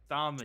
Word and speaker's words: Stomedy: Okay, apparently we've been saying the name wrong the whole time. It's have we? Muddy, not a hard O. It's Stomedy.